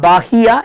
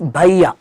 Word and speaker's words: Bahia: Sergipe, Bahia, it's not Bahia, it is Bahia.